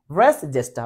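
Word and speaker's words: res gestae: রেস জেষ্টা সম্পর্কে বলছে রেস এটার উচ্চারণ অনেকে জানে না জেষ্টা এটাকে বলা হয় জেষ্টা জি এস টি এ রেস জেষ্টা বলা হচ্ছে আপনার যে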